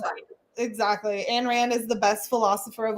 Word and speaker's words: Ayn Rand: Pronounced Ayn Rand. That's why there's a Y in there.